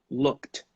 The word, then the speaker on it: looked: Number 2, the verb look ends in a k sound. This sound is unvoiced. Look. No vibration here. In this case, you should pronounce it as a T, okay? Looked.